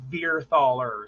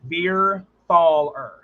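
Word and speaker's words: Verthaler: my last name wrong my last name is verer thaler so when you say deer replace the D with a V so ver ther well I meant that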